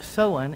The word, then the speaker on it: Samhain: so before i talk to y'all about what so on and it's pronounced so and though it's spelled samhain means